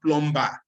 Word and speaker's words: plumber: Silent consonants. Like, for example, it's not plumber, it is plumber.